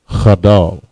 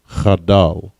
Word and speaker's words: chadal: Chadal. Chadal. All right, cha, da, and la. Da and la connect. Chadal. All right, next we have the word straight.